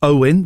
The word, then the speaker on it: Oane: Oane has messaged him again saying it's pronounced Owen. The A is silent, but I'm sure you'll blame that on Amir Khan.